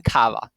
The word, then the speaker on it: kawa: In Polish, primary stress almost always falls on the next to last syllable, as in kawa.